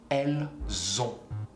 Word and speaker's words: elles ont: Liaison. Elles ont.